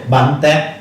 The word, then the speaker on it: Bánh tét: Bánh tét. long. Okay. Alright, can you try to pronounce that? Again? Bánh tét. Bun Tet.